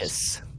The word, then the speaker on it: Deinonychus: I cannot remember how to pronounce... Deinonychus.